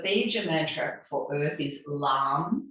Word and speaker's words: lam: mantra for Earth is lamb l a m but it's pronounced the same as thumb lamb so in a